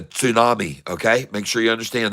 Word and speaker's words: tsunami: I said tsunami because the T has to be pronounced a little bit. It's not a tsunami. It's not a tsunami. It's a tsunami.